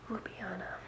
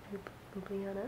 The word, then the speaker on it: Ljubljana: Ljubljana. If you see that written, it literally looks like a cat walked over your computer. But it's Ljubljana.